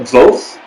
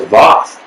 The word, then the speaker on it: Voth: Voth? Oh, I thought it was Voth. Voth. Man, I gotta learn how to pronounce these people's names.